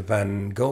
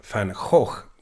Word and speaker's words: Van Gogh: quite near the U quite near the van go Museum or the van H Museum as the Dutch say uh however we English or Americans or Irish or French pronounce his name it's all wrong the Dutch pronounce it in a completely different way which is why he